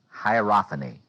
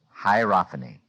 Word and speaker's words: hierophany: about the sense of uh here's the word hierophany hierophany can anybody spell it h i e r o p h a n y hierophany uh uh the word hopan let me